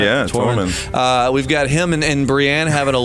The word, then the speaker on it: Tormund: Yeah, Tormund.